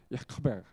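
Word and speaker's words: יעקב: 그리고 히브리어로 이야기하는 것은 뭐라고 이야기하냐면 이 지금 여기 스펠링 나온 것처럼 야코베. 그 약간 한국말 비슷하지만은 그 아랍어의 특징인 크라는 발음을 하죠. 야코베.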